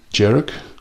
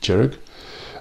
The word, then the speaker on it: Dearg: they've called it now I'm not sure sure on the my pronunciation of this but D jerich spelled D e r g I think you you pronounce it jerich um so as I